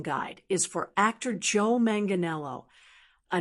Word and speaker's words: Manganiello: Manganelo. It's pronounced manganelo. Let's say it five times together for practice. Joe Manganelo.